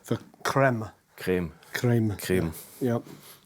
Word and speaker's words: Crème: 2 German yep and everyone says cream that's fine but actually it's French the creme creme creme creme you